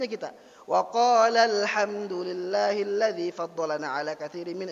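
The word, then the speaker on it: وَقَالَا: Alifnya enggak kelihatan tuh. Di dalam bacaan kita enggak kelihatan. Pertanyaannya dalam tulisan ada enggak? Ada. Maka membacanya bukan wa qala alhamdulillah, wa qala alhamdulillah. Ditekan, diangkat sedikit.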